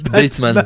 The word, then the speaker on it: Bateman: Après, moi, j'avais très envie, c'était surtout de voir Batman contre Ren Narita. Batman. Bateman, pardon. Je me suis demandé de quoi il parlait là. Batman. Bateman, ça s'écrit pareil, presque.